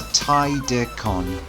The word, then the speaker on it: Tidecan: Yeah, just to clear up the pronunciation, because I know some people get a little confused, it's Tidecan.